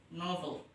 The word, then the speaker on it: novel: Cara bacanya yaitu novel, bukan novel, tapi E-nya itu dibaca novel. Novel.